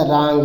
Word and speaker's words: wrong: WRONG, तो W silent हो जाएगा, रांग लिखा जाएगा, रांग, है ना, तो इसको रांग लिखा जाएगा।